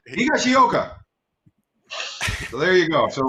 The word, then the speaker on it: Higashioka: I'm good at pronunciation. Higashioka.